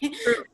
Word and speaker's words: CRVV: Correct me if I said it wrong. The Crew. Crew? Okay. Crew. Producer, The Crew.